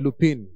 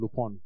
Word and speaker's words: Lupin: series was called some people are calling it lupine uh but it's not Lupine it's l-u-p-i-n but that's not the pronunciation so people are getting it quite off